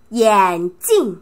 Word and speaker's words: 眼镜: 眼镜, 眼镜, 이 발음 조심해요. 眼镜, 镜 얘기할 때는 사성, 镜, 镜, 경성 읽으면 눈는 뜻이요.